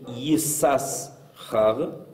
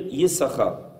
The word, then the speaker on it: Yissachar: On le lit comme étant Yesh Sachar, et quand on va le prononcer, on ne va pas prononcer Yissachar, on va dire Yissachar, comme si on sautait une des lettres.